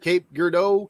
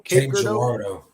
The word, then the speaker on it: Cape Girardeau: I was watching your little thrifting trail, and how do you pronounce it? Cape Girardeau? Cape Girardeau. Cape Girardeau.